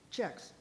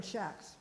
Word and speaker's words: Chaix: that's exactly what but you know Kathy and John say checks and then Ed's family no checks checks checks see well because that's on their their um you know publicity for their wine they spell it c-h-c-h-e to our checks whatever and then the other one Shacks Shacks is that what you said yeah so that's why it was I mentioned the two ways of saying it and